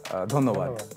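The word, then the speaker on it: ধন্যবাদ: Dhonnobad. Dhonnobad. So dhanyavad. Usi ko thoda Bengali touch maro. Dhonnobad. Dhonnobad. Make the a's into the o's. That's all.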